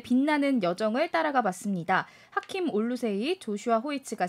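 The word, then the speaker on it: Oluseyi: 근데 당사자가 올루세이 이렇게 해달라고 요청을 해서 원래는 제임스 플러머 주니어였습니다만은 이런 아프리카계 이름으로 바꾼 흑인 천체 물리학자입니다.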